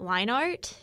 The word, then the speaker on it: Leinart: little bit is because the actual pronunciation for him as matt leinart oh maybe that would